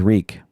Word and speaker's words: Reek: he died at winterfell my name is reek it rhymes with freak my name is reek